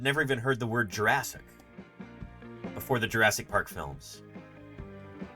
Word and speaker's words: Jurassic: the general public had ever heard the word Jurassic before Jurassic Park and we're not all saying it wrong clber it's pronounced Jurassic it is so these are Tyrannosaurus Rex and